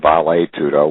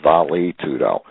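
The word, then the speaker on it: vale tudo: a bad pun of the Brazilian term valet tudo which is often pronounced by Americans is Val tudo and if you think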